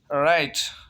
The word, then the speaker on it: write: जैसे राइट, WRITE, राइट। राइट mean सही, RITE, राइट। Pronunciation of this word is राइट, RITE, राइट। W is silent.